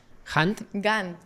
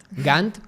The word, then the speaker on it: Gantt: ¿Cómo se pronuncia? Gantt. Gantt, con G.